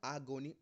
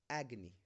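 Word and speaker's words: agony: इट इज़ नॉट आगोनी, ना ना, इट is pronounced as एग्नी।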